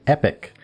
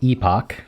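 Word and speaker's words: epoch: British say ee-pock, Americans say epic, except most Americans say ee-pock anyway, so it's kind of strange.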